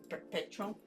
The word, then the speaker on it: perpetual: When you pronounce perpetual, sounds like a ch, perpetual.